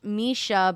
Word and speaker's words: Mische: You mean to tell me that with character names such as Oriah, Rain with an H, Misha, but it's spelled like Mische, Septimus, Ilana, Keturah, and